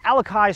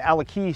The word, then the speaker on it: Alakai: Aloha, Doug Jones here, coming to you from the end of the Alakai Swamp Trail, or the Alaki Swamp Trail, depending on how you want to pronounce it, overlooking the beautiful Hanalei Bay on the north shore of Kauai.